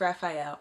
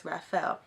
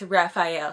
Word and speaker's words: Raphael: to spelling it's like if his pH is Raphael and if it's just F is Rothfeld but it is pH it's Raphael Santiago and ELISA said his